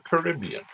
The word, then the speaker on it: Caribbean: This was the only seal species native to the Caribbean or Caribbean.